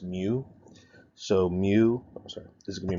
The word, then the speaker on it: mu: This symbol right here is a lowercase m in Greek, and it's pronounced mu.